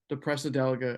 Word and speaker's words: Depressedelica: Yeah, I was a real big fan of a Depressedelica, if I'm even pronouncing it right.